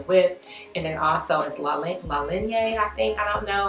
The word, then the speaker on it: La Ligne: The word you are watching, it sounds like Ligne. La Ligne. Ligne. Ligne. Okay, so it's La Ligne.